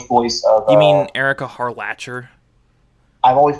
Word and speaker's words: Harlacher: Erica Harlocker does the English voice of. You mean Erica Harlacher? I've always pronounced it Harlocker for some reason.